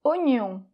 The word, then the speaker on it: oignon: Alors là, quel est le problème ? Ben c'est un peu que c'est une exception en français, parce que c'est un O combiné normalement avec un I, quand il y